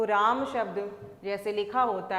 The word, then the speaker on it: रामः: लगा हुआ है तो इसका उच्चारण हम करेंगे रामः। तो यह जो विसर्ग है इसका जब उच्चारण करते हैं तो ह की ध्वनि निकल कर आती है।